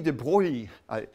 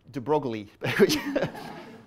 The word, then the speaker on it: de Broglie: like me uh so this is louis de bruyne or i pronounce it de broglie that's not the correct pronunciation and this man deserves